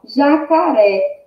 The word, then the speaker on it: jacaré: Então, ó, jacaré. Jacaré, ré, é o mais forte, é o mais intenso, né? A sílaba mais intensa, né? Que a gente diz com maior intensidade. Então, ré é a última sílaba. Então, jacaré vai ser uma palavra, o quê? Oxítona, porque a última sílaba é a sílaba mais forte, é a sílaba tônica.